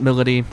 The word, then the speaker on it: Milady: And her persona is Milady, or Milady. But she pronounces it Milady, so I'm going to say Milady.